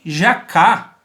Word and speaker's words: jacá: Este cesto ele era chamado de jacá. Jacá. Acento aí na segunda sílaba.